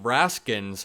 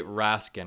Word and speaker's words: Raskin: his name repeatedly and saying Raskin when it's actually Rasin I let the clip